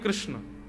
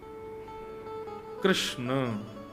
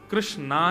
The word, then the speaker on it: कृष्ण: कृष्ण कृष्णा नहीं कृष्ण ठाकुर जी का नाम कृष्ण रखा गया।